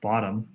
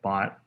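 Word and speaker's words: ⊥: least element i'll say this is pronounced bottom or bot is such that it's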